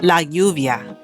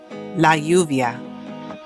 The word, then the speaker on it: lluvia: The rain, la lluvia, la lluvia. Keys, las llaves, las llaves. This is important to know that the double L could be pronounced with the j sound, depending on what country you're in.